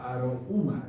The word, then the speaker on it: Aroma: Aroma significa arouma. Yo no soy aymarista, pero o es aymara o es puquina, no lo discutimos, pero es aguas de color café. Eso significa aroma, arouma, así se pronuncia.